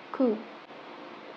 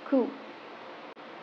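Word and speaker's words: coup: Do you say coop or, like I said, it's the silent letter. So it is supposed to be pronounced as coop. Coop.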